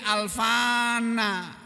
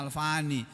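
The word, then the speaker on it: الفاني: Ketika ihtaro dia memilih alfana tapi sini bacanya alfani ketika waktu di dunia-dunia memilih dunia yang fana ini.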